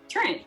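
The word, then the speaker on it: Treant: I like the other Trient, however the hell you pronounce it better. Trent, you said it right.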